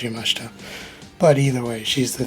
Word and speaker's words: Yamashita: I think it's pronounced Yamashita.